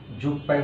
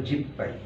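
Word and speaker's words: 十杯: 10 জু যুগ হাই স্বাভাবিকভাবে এখানে যুগ পাই যুগ পাই উচ্চারণটা হয় বাট জাপানিরা যুগ পাই বলে না ওরা বলে জিব পাই যুগকে ওরা জিব বলে সেই ক্ষেত্রে জিব পাই উচ্চারণটা সরাসরি ওরা বলে ফেলে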